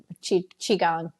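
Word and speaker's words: qigong: I do some you know um like type chi chiang it's the correct pronunciation type practices um I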